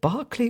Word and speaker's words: Berkeley: walking up the streets in now is it Barclay or Berkeley how do you pronounce that night California Berkeley Berkeley so I was in Berkeley uh walking trying